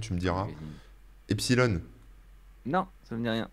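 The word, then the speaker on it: Epsiloon: Ouais, ça se dit Epsilon, mais ça s'écrit avec le symbole infini.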